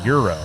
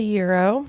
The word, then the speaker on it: gyro: it said it's a Euro it's a Euro but it has a g in there no but you don't pronounce the G it's a Euro well don't put thing